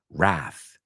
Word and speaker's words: wrath: right Kusa ban bbo wrath is the word it's like the word wrist it has a silent W wrath wrist um trying to